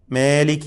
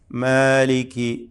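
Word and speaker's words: مَالِكِ: എകാരം നൽകിക്കൊണ്ട് നീട്ടാനും പാടില്ല മാലിക്കി അല്ല മാലിക്കി മാലിക്കി മാലിക്കി ഇതിൽ കാഫ് പ്രത്യേകം നാം ശ്രദ്ധിക്കേണ്ടതാണ് മാലിക്കി ഈ കാഫിന്റെ ഉച്ചാരണം പ്രത്യേകം ശ്രദ്ധിക്കുക കാഫ് എന്ന് പറയുമ്പോൾ ആ ഹർഫ്സാൻ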